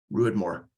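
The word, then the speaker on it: Ruadh Mhor: But they've been doing peated whiskey under the name, I think it's Rue Moore, if I remember correctly. Yeah, it rhymes with Druid. Druid Moore. Ruid Moore.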